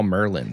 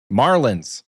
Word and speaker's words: marlin: you can draw you get like 10 raw Merlin from Hydra or something. Merlin also Marlins.